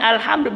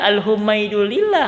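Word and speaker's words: الحمد لله: Bacanya alhamdulillah, berarti hamdu itu adalah sorob. Enggak dibaca al-humaidulillah, enggak. Alhamdulillah, enggak. Alhimidu, enggak.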